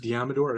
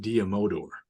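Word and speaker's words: Deommodore: I heard it pronounced Diamador. I've also heard it pronounced Diamodor. Diamodor. I might like that one better. I might like that one better. Diamodor. Both ways.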